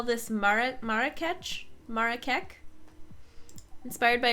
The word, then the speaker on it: Marrakech: Marrakech is the pronunciation?